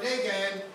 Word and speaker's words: Dagon: And they placed it in the house of Dagon or Dagan, however you want to pronounce it. I pronounce it Dagon.